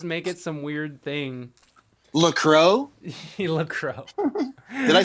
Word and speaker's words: LaCroix: LaCroix?